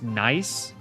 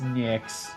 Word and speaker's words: Nyx: It's pronounced nice? No, it's not. No, it's not. Is it? No, it's Nyx.